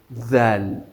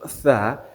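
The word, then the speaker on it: ذال: So, that's how we are going to pronounce zal. Zal. But the only difference between zal pronunciation and that of tha, it is the way we wouldn't allow the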